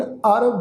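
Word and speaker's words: ਅਰੁ: ਚੱਕਰ ਚਿਹਨ अर बरन। अर शब्द ऐड़ा रारे ਦੇ पैर ਵਿੱਚ औंकड़।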